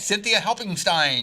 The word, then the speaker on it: Cynthia Helpingstine: on radio friends and i hope i pronounced your name right this is cynthia hope helping Stein right that's right Cynthia helping Stein that's a good German